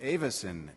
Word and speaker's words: Avis: our Co reminded me if you ever forget how to pronounce our name just remember where you're from which is Michigan and I'm a yuper and you say everything like this a so it's Avis a very good thank